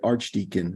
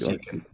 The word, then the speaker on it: Archdekin: and his last name, you pronounce it Archdekin. Remember, it's so easy. Archdekin. Sounds like a superhero, Archdekin.